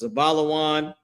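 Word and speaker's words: זבולון: In Hebrew, their name is pronounced Zabalawan.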